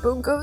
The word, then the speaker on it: Bungo: Um, do you um do you want to watch Bunko Stray Dogs? I I actually recently learned it might be pronounced bongo stray dogs.